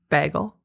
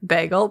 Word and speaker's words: bagel: can't say the word Bagel how do you say it Bagel because Wisconsin nightes say bag they're like Bagel so they go hard on they go hard on the a so I say bagel